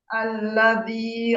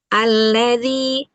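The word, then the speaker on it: الذي: Alladzi alladzi ee zinya itu upayakan atau mungkin mungkin terlalu lebar ujung lidahnya. Ee dia hanya bertemu di ujung gigi seri atasnya dua. Dua ujung gigi seri atas. Dzi dzi dzi gitu ya.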